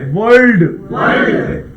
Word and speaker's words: world: कमाल से वर्ड वर्ल्ड। अब देखिए यहाँ पे एल पे अगर फोकस ना हो तो वर्ल्ड और वर्ड एक जैसा लगेगा।